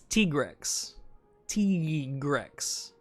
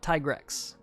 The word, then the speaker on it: Tigrex: say about t-grex because it's t-rex t-grex not tygrex that's it's not tigrex it's t-rex i will accept tigrex that's another that's that's